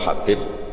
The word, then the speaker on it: Habib: Ada yang nulis Abi Abdurrahman Habib Asulami. Itu di harakatnya kitab itu ada yang nulis loh. Yang benar. Oh, nggih. Yang benar itu bacanya habib.